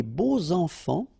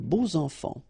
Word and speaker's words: beaux enfants: And here it's quite interesting because even if you've got this X, well, phonetically it will be like Z, so like if it would be an S, okay? Les beaux enfants, all right?